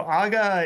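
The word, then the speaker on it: ağa: So, aa is um captain or unic. Um the a with a yumushake silent.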